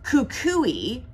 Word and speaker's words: Kukui: we're gonna move on I had to put my sticky note on there to know how to pronounce this it's Kukui and coconut Kukui and coconut here's